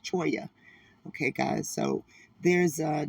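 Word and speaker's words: Cholla: to say ch cha c h o l l a is choya okay guys so there's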